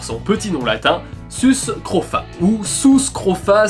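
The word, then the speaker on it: Sus scrofa: petit nom latin suscrofats oussou scrofa si on fait les u comme en latin ou l'onu se prononce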